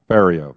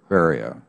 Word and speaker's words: Ferriero: Rhymes with stereo. Ferriero. Ferriero.